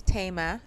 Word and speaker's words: Tama: Hi, this is Tama. Tame like tame a tiger. Tame like not wild tame.